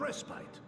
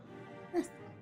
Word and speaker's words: respite: Respite? I call it respit. He calls it respite. I suppose the way it's spelled it should be rest bite, but I'm pretty sure I've always said restite.